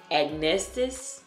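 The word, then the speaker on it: acnestis: All right, so the word of the night is agnestis.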